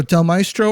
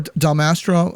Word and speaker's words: Del Mastro: I agree you know Del mestro or Del Mastro you I need to learn how to pronounce his name Mastro I believe I think I said it